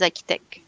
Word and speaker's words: architect: the Enterprise architect Enterprise architect okay AR it's not AR architect yeah architect yeah Enterprise architect okay um I think you can say both architect or architect ah I I uh